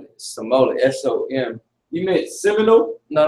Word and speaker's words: Seminole: You know how to spell it? The Simeon? Not Simeon. Simone. Seminole.